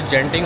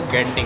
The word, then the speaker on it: Genting: पढ़ने में उसको अगर हम अपने उससे पढ़े तो जेंटिंग होता है लेकिन उसको यहां की प्रोनाउंसिएशन जो है वो गेंटिंग होती है।